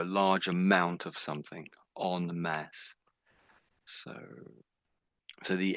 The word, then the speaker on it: en masse: So that is pronounced as mass on mass. So that means a big number a great a group of people or or a large amount of something on mass.